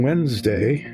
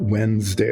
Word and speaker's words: Wednesday: So on Wednesday, to complain about that, we call it Wednesday, like it's W-E-N-D, but it's not, it's W-D-N-E. It's really Wednesday.